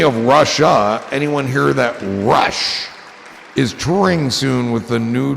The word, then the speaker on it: Russia: It's spelled Russia, but it's called Rushi.